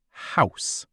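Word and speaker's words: Haus: In German, house is house. House sounds like house, but a tiny bit different.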